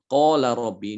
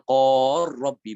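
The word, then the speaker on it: قال رب: Qala rabbi ini udah jelas ya, yang mutaqariban adalah huruf lam dengan ro ya. Mutaqariban. Jadi dibacanya qala rabbi bukan qor rabbi bukan ya.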